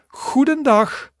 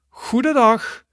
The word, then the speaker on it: goedendag: So that would be goedendag, goedendag, goedendag. Exactly. All right, so repeat after me. We're going to pronounce all 4 of them.